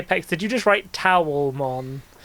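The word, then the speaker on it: Taomon: It's I've got to say, Pex, did you just write towelmon? Like a thing that you dry yourself with? Towel. T A O like towel.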